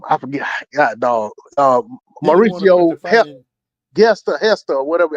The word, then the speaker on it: Gesta: forget do ucio gesta Hester whatever how it spelled g s o oh g s a but I think it's it's pronounced Hester um but he pulled